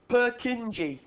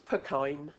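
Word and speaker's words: Purkyně: Purkinje. Yeah, it's not. The way they spell it now is Purkyne. So that is to make us pronounce it properly. It's Purkyne.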